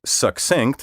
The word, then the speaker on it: succinct: correct you ask because the rule for pronouncing double c in a word says that the first c sounds like k the second like s together they create the sound of k s as in the name